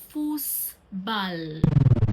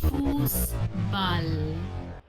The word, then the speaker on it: Fußball: This is German "Fußball". "Fußball". It's called the "Eszet". It is not pronounced as B.